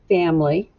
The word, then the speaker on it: family: macron family you don't really hear the eye at all so that's why it's a trick word i love spending time